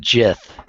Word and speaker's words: Gith: What exactly are Gith? I'm sure Preston knows, but I personally don't. Yes, I will show you a picture. Well, some people pronounce it Jith.